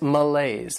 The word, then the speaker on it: malaise: Next is malaise. This word has two syllables, and the stress is on that second syllable, malaise.